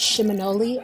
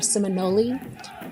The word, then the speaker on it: Seminole: That's where the idea of the word Seminole comes from, is that some linguists believe that it is a Creek word or Muskogee word, and it's pronounced Shiminole or Seminole.